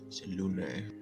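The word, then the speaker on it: Selûne: Forsaken Temple, if he recalled correctly, was a Saloon temple. Selune. A Saloon. I can't pronounce right today.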